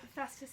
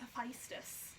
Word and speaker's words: Hephaestus: like fourth grade because she kept saying that it was um instead of hephaestus it was a feistus yeah and i was like excuse me but it's hephaestus like you know little